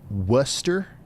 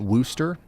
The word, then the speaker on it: Worcester: It's pronounced Worcester. some like it seems like I'm seeing a lot of that in chat guys. Am I going to have to remember that Worcester not worooster?